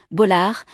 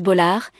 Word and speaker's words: Bollaert: Une filiation qu'elle revendique fièrement, précisant souvent avec humour que le T final ne se prononce pas. Né d'un père d'origine italienne Jean-Marie Faragi et d'une mère, Marion Bolard, Faustine a grandi entre deux cultures.